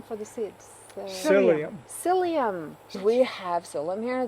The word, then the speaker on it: psyllium: Is that the same as psyllium husk? It's like it helps things move along. Yes. How do you pronounce it?